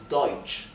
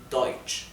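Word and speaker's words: deutsch: la u es o por eso esto se pronuncia deutch deutch el sonido de la ch de la ch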